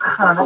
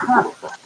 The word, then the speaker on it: Hannah: Yeah, she says I don't say her name correctly. What? I'm always like, Hannah, how you get? And she goes, it's not Hannah, it's Hannah. Fuck you, bitch.